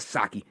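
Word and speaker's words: Psaki: have jen purcerco back but saki silent p of course it'll just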